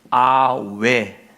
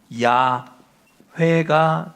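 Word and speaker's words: 야훼: 또는 아외 아외로 불리던 시절도 있었고 그리고 이제 발전돼서 야 회가 된 것이죠. 성경학자들은 여호와라고 하는 하나님의 이름보다 야회가 훨씬 더 원어에 가까운 원래 하나님의 이름과 가까운 발음일 것이다.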